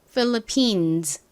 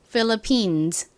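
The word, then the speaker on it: Philippines: 여러 개의 섬으로 이루어진 나라다 보니가 붙죠 그래서 phillipines phillipines 이렇게 발음이 됩니다 요것도 한번 따라해 보실까요 philipin 좋습니다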